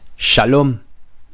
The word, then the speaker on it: Shalom: goodbye and that is Shalom Shalom Shalom okay two syllables and they're both long if you need to